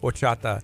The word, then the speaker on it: horchata: next time you go to a Mexican restaurant it's spelled hor CH a TA or chata okay there was when I was a school